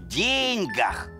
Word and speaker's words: деньгах: Оказывается, в пословице «не в деньгах счастье» ударение нужно ставить на «е», не в деньгах.